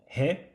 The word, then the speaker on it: へ: Although written he it is pronounced e when used as a particle.